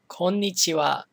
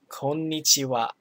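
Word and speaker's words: こんにちは: morning and i'm sure you've all heard this konnichiwa the ha at the end is pronounced as because of particle because the at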